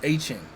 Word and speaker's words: Etienne: He came out and said, "My name is not Travis Etienne, it's Travis Etienne." So, you know what I'm saying? Travis Etienne. Uh Etienne. Like basically like Devon Etienne, but like Travis Etienne.